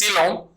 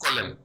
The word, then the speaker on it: coelom: Body cavity, or which is also referred as coelom, okay, or the you may also pronounce as colon.